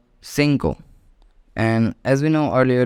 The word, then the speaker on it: cinco: pronounced with it's vowels okay so 4 is pronounced as cuatro now let's see five 5 is called Cinco and as we know earlier that I make